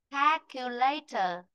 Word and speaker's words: calculator: Rồi từ này nữa này. Calculator. Calculator. Đó. Đó như bồn. Calculator bồn âm tiết mà.